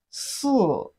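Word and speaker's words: 四: Four in Chinese is pronounced as si. Si, repeat after me. Si, it has the fourth tone of Chinese language. The fourth tone is the falling tone.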